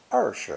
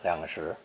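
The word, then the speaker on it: 二十: be careful however to say er sure for twenty and never lyangshir liang itself is also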